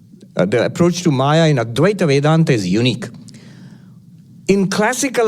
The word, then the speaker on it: Advaita: I guess it's pronounced with a W. Advaita Vedanta.